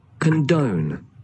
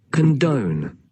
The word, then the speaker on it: condone: condone, कंडन, कंडन, कंडन, कंडन, ऐसे condone, कंडन। Next है आपका condone, कंडोन, जो डॉन होता है वैसे ही समझ लीजिए, कन और डॉन डॉन, डॉन तो जानते ही हो